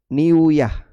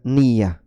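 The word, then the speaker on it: نية: Wa asluha, jadi niat itu kalau dalam bahasa Arab aslinya bacanya itu niuyah. Niuyah. Cuman kan sulit untuk dibaca niuyah. Akhirnya wawunya dihilangkan, lalu digabungkan dengan huruf ya, diidgham, kemudian jadilah niyah, mengikuti wazan fi'lah.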